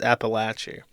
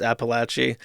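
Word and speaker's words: Apalachee: In Apalache, now this one is spelled how it's pronounced. When you look at the word Appalachian, it looks like that. But when you look at this, you know it's pronounced Apalache.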